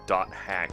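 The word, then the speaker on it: .hack: You're the only person who pronounced it dot hack because everyone either didn't know or just ignored the dot because it was just a dot.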